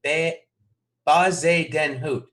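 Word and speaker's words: Bezuidenhout: those four blocks is somebody trying to phonetically spell that Christiaan guys named Bay Oz a den hoot okay that's not bad yeah that's not bad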